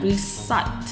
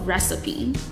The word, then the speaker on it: recipe: ，叫做 recipe，可以按照字面上，它看起来应该是要念 recite， OK，很多人会念错，但其实它是要叫 recipe， OK，它是食